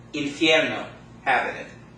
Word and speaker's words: infierno: How many syllables does the word infierno have in it?